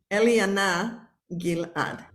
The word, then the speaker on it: Eliana Gilad: My name, it's a Hebrew name, Eliana Gilad.